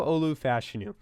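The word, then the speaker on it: Olu Fashanu: pick for them and we're going to go Olu fashu out of pen yes that is how you pronounce it uh he's probably going to be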